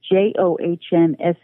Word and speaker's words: Johnsen: And I must say my last name is Johnssen, Johnsen. The good Norwegian way to spell it. Me.